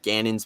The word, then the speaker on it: Gannon: Back on John Geedon. Is that how you pronounce his name? I can never get his last name correctly. I'm bad at Jonathan pronouncing names. Gannon. Jonathan Gannon.